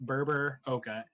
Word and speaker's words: Berberoka: Berber, like almost like Gerber. Berberoka.